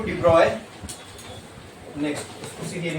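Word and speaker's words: de Broglie: According to डिब्रॉय, next उसी theory में लिखो। अकॉर्डिंग टू डिब्रॉय, अकॉर्डिंग टू डिब्रॉय, डिब्रॉय की स्पेलिंग आती है ना, DROGLIE। लिखने में उसको ब्रोगली लिखते हैं, तो बोलते हैं ब्रॉय है।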